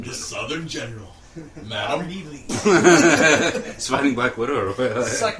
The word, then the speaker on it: Ely: It's not Eli. It's Ely. Like Robert? Yeah. E-L-Y. Pronounced.